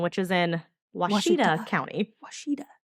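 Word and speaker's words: Ouachita: Washita. Does not look like how it's pronounced. And it looks like Ouchita.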